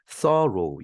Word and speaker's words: thorough: through가 아니죠. 발음이 thorough.